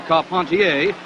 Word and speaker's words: Carpentier: jack dempsey advancing on george carpentier or carpontier if you prefer the french pronunciation this was the first